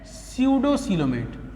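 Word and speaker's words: pseudocoelomate: Second category of animal है स्यूडोसीलोमेट। P silent होता है, स्यूडोसीलोमेट मतलब सीलोम है लेकिन उसको हम फॉल्स सीलोम बोलेंगे।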